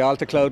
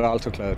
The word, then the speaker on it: Altocloud: you pronounce it uh it depends which side the atlantic you're on but the americans say alta cloud most of my customers are over there so let's call it alto cloud alter cloud it is